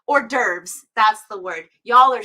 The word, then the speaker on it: hors d'oeuvres: I'm so bad at saying this word because in my head I see all the letters. Hors d'oeuvres, that's the word.